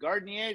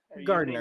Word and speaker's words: Gardiner: And we're coming up next with Garnier. Did I pronounce that right? Gardner.